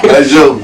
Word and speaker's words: MacJovi: MacJovi.